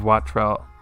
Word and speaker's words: Wattrel: Anyways, give Wattrell.